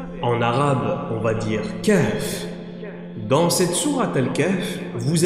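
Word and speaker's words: كهف: Remarquez que dans la prononciation de Kahf, Kahf, Kahf, vous avez un souffle qui entre dans la poitrine puis ressort.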